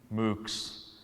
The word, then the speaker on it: MOOCs: an acronym here, and if you pronounced it, you would hear cows. MOOCs.